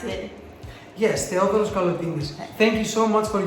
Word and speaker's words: Theodoros Kalotinis: Is that how you pronounce it? Yes, Theodoros Kalotinis.